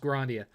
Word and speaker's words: Grandia: Hey, Seven, thoughts on Grandia for the PS1? Well, actually, I think it's pronounced Grandia.